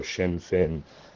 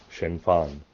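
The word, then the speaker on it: Sinn Féin: irish accent in english both words are meant to mimic each other and rhyme so shin fin is the english irish pronunciation if you wanted to be accurate pronouncing it in irish yes shinfan would be more uh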